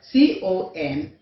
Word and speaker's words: complete: The last letter E there is a magic E because it is silent. So whenever you have a magic E, it means you are to silence the sound. You are not to sound it out.